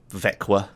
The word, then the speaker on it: Växjö: He drove me from a Swedish airport all the way to Växjö, or Växjö, as you'd say it properly, where the event was held.